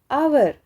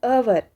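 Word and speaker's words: hour: है उसके बाद एन आवर तो यहां पे क्या है एच ओ यू आर क्या है यहां पे एच साइलेंट है लेकिन ये आर इसकी आवाज ऐसी अवर अ से आ रही है ना अवर तो इसके साथ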